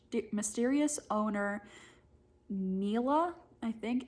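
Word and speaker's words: Nella: and its mysterious owner, Neela, I think. It's Ella with an N in front of it. I'm going to pronounce it Neela, who sells well-disguised poisons to use against the oppressive men in their lives.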